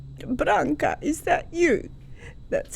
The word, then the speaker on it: Branka: knew it was me she knew she said branca is that you that's how they say my